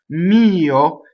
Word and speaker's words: mio: Mio, so it has a strong E vowel and a secondary vowel, O. Now, this O is a closed O, so it's mio, right? So notice that O is also pure. When we say, if we said it with a really strong American accent, our mouth would move, right? So it would be mio, and would have a lot of motion. Their O is just O.